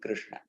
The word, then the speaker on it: Krishna: So this is the tongue movement for pronouncing Krishna.